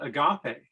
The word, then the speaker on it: agape: So I asked a Greek person, and you pronounce it agape, agape, I think.